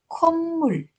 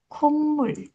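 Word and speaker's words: 콧물: Kalau komul ya tulisannya mul bacanya kommul. Kummul.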